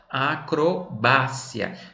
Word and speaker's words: acrobacia: No espanhol eu vou dizer como? Acrobácia.